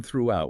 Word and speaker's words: throughout: Make sure that H is audible through the sound distinct from throughout which has three syllables.